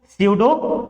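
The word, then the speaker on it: pseudo: यहां पे P silent है, क्या पढ़ेंगे इसको? स्यूडो love.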